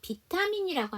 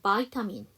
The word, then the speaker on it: vitamin: 이거 비타민이라고 하는 건 로마자 표기대로 발음하는 거고요. 영어 발음은 바이타민 이렇게 되겠죠. apply 규칙 변화에서 applied인데요.